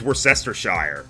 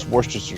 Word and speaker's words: Worcestershire: __ ] no no you pronounce Worcestershire sauce I thought it was worse Esther Shire is that tell about that it's laid out swore sister sauce okay it's pretty much